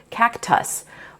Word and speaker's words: cactus: So think about the word cactus. Technically, that's two closed syllables, so you would expect that second syllable to have the short U sound, cactus. But in that unaccented syllable, we hear the schwa, as we do in many English words, that lazy I or sound.